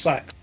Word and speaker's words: seax: It's spelt Seax but pronounced sax.